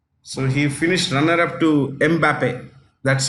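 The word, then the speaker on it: Mbappé: goals seven goals so he finished runner-up to mbappe that's how you pronounce it m Bape okay next Golden Globe or glove glove or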